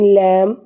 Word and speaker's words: lamb: In lamb, B is silent.